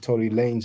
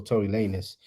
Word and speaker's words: Tory Lanez: Now, Tory Lanez, I don't even know if you pronounce it Tory Lanez or Tory Lanez.